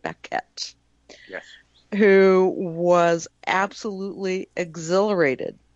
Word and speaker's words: Baquet: He pronounces it Baquet.